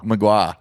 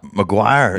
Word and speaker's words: Maguire: Connor Magua. Maguire. Yeah, Maguire. yeah, Oh, so yeah. you just say Maguire.